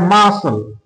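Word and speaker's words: muscle: mass A ইউ এ দেখো এখানে মাসল মাসল তাহলে এখানে কিন্তু আমরা সি এর উচ্চারণ পেলাম না তাহলে বুঝতে পারছ যে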